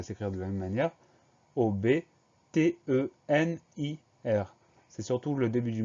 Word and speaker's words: obtenir: Alors, quand on le prononce vite, on a tendance à dire obtenir, mais c'est bien obtenir, donc O-B au début du mot.